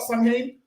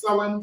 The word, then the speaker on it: Samhain: People it's pronounced start Samhain, but the proper pronunciation, how the council have said it, is Samhain.